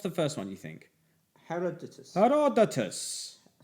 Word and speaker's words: Herodotus: Herodotus. Herodotus.